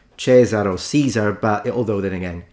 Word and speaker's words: Caesar: as in sort of the original pronunciation Kai Kai is how you'd say it and he's gonna repeat it again so it's interesting because at least he does the C correctly but he puts the stress at the end whereas the stress is at the beginning I'm glad it didn't